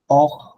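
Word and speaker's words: heure: সাউন্ডটা হয় না এইচ মিউটেড হয়ে যায় লাইক ওম অহ ইবে ইবে হচ্ছে উইন্টার অহ তো ঘড়ির টাইম মানে কয়টা বাজে ঘন্টা ওম হচ্ছে ম্যান তো এখানে আপনার এইচটা মিউটেড থাকে নর্মালি ওম অহ ইবে এই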